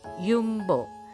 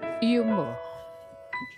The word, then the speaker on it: Jumbo: kami ingin belanja di yumbo Yuk Ikutin terus oke Guys kita jalan lagi tadi makan di pusigon Nah kita Ceritanya mau belanja di jumbo tapi pronounce-nya yumbo terus sama ngambil uang